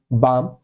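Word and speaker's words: balm: अगर हमें लिखना है बी ए एल एम बाम एल इसमें भी साइलेंट है तो क्या बनाएंगे पहले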